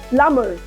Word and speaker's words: plumber: as dump plum like plumber right again a combination of MB letter B is silent plumber not plumber right crumb and this